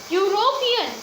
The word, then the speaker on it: European: The second word, European. Here also, though the word is starting with E, which is a vowel, but it pronounced as Y.